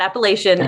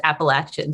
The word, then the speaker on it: Appalachian: a gold star for pronouncing appalachian correctly it's not appellation it is appalachian so good job well